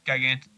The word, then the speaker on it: Gigante: I like to say Gigante. Gigante. Okay. Gigante. Got it. Got it. He's won his last 2 starts. He's won over the Lone Star Surface. I thought Gigante.